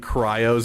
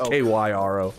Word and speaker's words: kairos: Yeah, Gyatter saying cryos instead of kairos is triggering me. Wait, am I saying it wrong? Yeah, you keep saying cryo like a cryo grenade from KOTOR, or cryogenics instead of Cairo. It's KYRO.